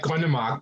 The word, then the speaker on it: Grønnemark: I hope I pronounced your name correctly as well. Grønnemark in Danish? Yes, it's just like Grønnemark, but that's okay. I think you were pretty close there, so it's accepted.